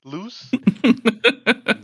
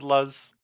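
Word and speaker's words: Luz: have called her L it's loose yeah just like word loose okay loose yeah I would have said LZ right and then we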